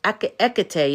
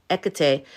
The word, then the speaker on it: Hecate: I've just realized I've been saying Hecate. It's Hecate. You don't pronounce the H, right? Hecate.